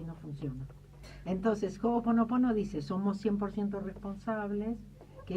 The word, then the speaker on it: Ho'oponopono: En hawaiano se pronuncia cada letra, cada vocal, igual que en español, en el castellano. ¿Vieron como nosotros leemos todas las letras? En hawaiano es lo mismo. Entonces, Ho'oponopono.